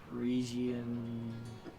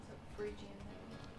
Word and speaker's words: Phrygian: So the Frisian, Phrygian, or Liberty Cap as it's also known as. Phrygian.